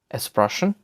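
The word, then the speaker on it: sprechen: অ্যাসপে এর উদাহরণ হচ্ছে এক্সপ্রেশন, এক্সপ্রেশন, যার অর্থ টু টক বা কথা বলা। এসটি এর উচ্চারণ হচ্ছে ইস্ট মতো, ইস্ট, ইস্ট, বা স্টার, স্টার।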